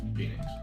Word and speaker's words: Phynix: Phoenix. The H is silent. Yes. Phoenix.